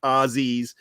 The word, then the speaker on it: Aussies: yes it is i said it right boys ozzies so you know really good so you know